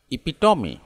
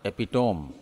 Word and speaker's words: epitome: ठीक है, इसको राइट प्रोनाउंसिएशन हम थोड़ा सुधार करेंगे तो हम बोलना चाहिए इपिटोमी, इपिटोमी, इपिटोमी, इपिटोमी, इपिटोमी, इपिटोमी, इपिटोमी, नॉट एपिटोम, नॉट एपिटोम।